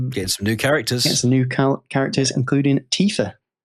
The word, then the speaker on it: Tifa: Get some new characters, including Tifa. Yes, who I hilariously pronounced wrong. How did you pronounce it? But I said Tiffer.